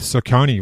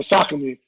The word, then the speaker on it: Saucony: The shoe deal was with Saucony, wasn't it? I call it Saucony, but some people call it Saucony.